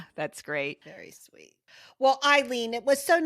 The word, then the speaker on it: Ileen: Ileen is not spelled like it is. Ileen.